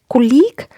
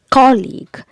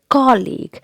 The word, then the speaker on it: colleague: do you pronounce it colleague that's again incorrect incision the correct pronunciation is colleague colleague and again the stress is given on the first syllable colleague the next word